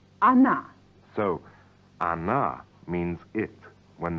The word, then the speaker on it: она: Or na, pronounced она.